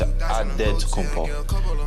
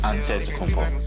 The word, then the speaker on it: Antetokounmpo: The Nigerian way, you gotta say with a D, so it's Antetokounmpo. But in the Greek way, you say with an NT, like Antetokounmpo.